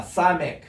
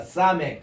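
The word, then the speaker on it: סמך: 우리는 이 가인이라는 개념 때문에 그 발음을 안 합니다만은 그래서 이제 아인 이렇게 나옵니다. 따라합시다. 사멕.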